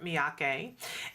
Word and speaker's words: Miyake: We are here in the studio with Christopher Miyake.